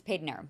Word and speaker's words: Padanaram: It looks like Padanaram. Yes, so, it does. Like, right, but it's Paid Aram.